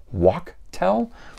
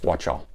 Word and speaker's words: Wachtel: Now, somebody else had told me I should pronounce that as Wadi Wachtel, but to me, C-H is ch, not ka, so I'm going with Wachtel.